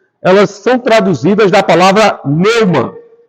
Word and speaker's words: pneuma: Elas são traduzidas da palavra pneuma. P-N-E-U. M-A, pneuma. Se lê pneuma. O P não se pronuncia.